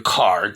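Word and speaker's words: Carrd: complaining about the presentation card, that's C-A-R-R-D, it's actually pronounced CARD, against Dr.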